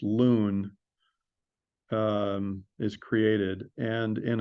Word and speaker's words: LUN: use something called a loon it's spelled Lun but it's pronounced loon um is created and